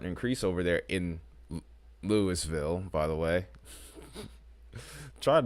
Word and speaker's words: Louisville: town I would say Louisville but it is pronounced as they pronounce it literally as Lewisville it's so weird like